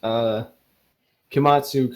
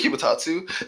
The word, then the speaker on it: Kimatatsu: When you come out of your rooms, you notice Kimatsu coming out of the empty bedroom. Oh, okay. Oh wow! I probably should have told you the actual pronunciation on that. It's supposed to be Kimatatsu.